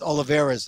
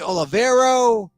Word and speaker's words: Oliveira: now it's interesting because all the news guys have a hard time with Oliveira's it's just Oliveira but it's because it's a d aloe vera but because it's spelled o-l-i-v Olive and then Vera is v-e-i-r-a they don't understand I've heard the Olivero the Olivera the olive the Oliveira it's the Oliveira it's you know it's